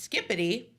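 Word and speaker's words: skibidi: just looked it up it says skibbidy pronounced skippity ohip SK sorry my bad I've been saying it wrong the whole time has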